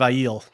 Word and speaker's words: Aiel: I haven't mastered the weave, but I've mastered the pronunciation of Aiel.